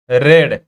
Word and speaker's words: read: प्रथम postman पढ़िला then postmaster both उभय both रेड देख पे गोटे इंटरेस्टिंग जिनस ये जमती राइट